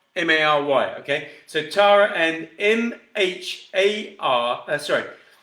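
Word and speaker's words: Mhairi: And just to spell it, because I think it's pronounced Mary, but it's not M-A-R-Y, okay?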